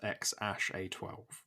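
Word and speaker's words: X Æ A-12: They announced on Monday that they had a baby son, and they've identified the second character as Ash, saying it was pronounced X-A12.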